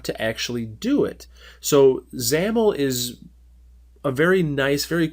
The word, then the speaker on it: XAML: you to understand is zamel XAML pronounced zamel now this is a